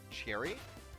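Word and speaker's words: Ceri: is actually spelled so that would be pronounced cherry even though it's c-e-r-i apparently that's apparently that's cherry instead of siri like i wanted it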